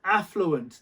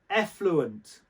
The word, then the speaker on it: affluent: going to use this don't mispronounce it say affluent don't say effluent because effluent is what